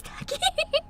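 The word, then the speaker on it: Tachy: Now I remember how to pronounce it. Amazing. It was Taki.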